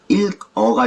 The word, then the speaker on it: 읽어: 마지막으로 겹받침의 경우에는 뒷자리의 자음만을 다음 글자의 첫소리로 옮겨 발음한다의 예시는 읽어가 있습니다. 우리가 책을 읽다 할 때 책을 읽어 할 때 그 읽어입니다. 이거는 일 부분을 보면 그 받침이 리을 기역으로 겹받침으로 되어 있죠. 이럴 경우에는 리을은 남고 그 자음의 뒷자리 자음 기역만이 그 다음에 첫소리로 옮겨서 발음된다 라고 보시면 됩니다.